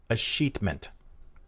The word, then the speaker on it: Escheatment: E-S-C-H-E-A-T-M-E-N-T. Escheatment. So it's E-S-C, heatment. Heatment. Escheatment.